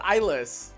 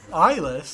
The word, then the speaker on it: i-LS: new drug going around they call it isas isas yeah but spelled like with an i and then LS like i- LS man you know what